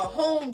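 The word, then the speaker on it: holm: The other elder said a home tree. If I'm pron pronouncing that right, it's H O L M. Home home tree.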